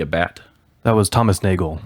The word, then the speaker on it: Nagel: like to be a bat that was Thomas Nagel Nagel yeah thank you yeah and you have read